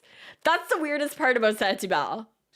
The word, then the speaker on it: Saint-Hubert: It's spelled the way that it sounds. Hubert. Saint Hubert. Or Saint-Hubert is how we say it.